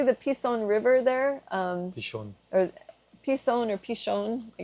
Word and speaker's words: Pishon: they don't see the they don't know the difference between a seen and sheen in Hebrew kind of like nasa and na yeah exactly okay so it's supposed to be pronounced pishon so if you guys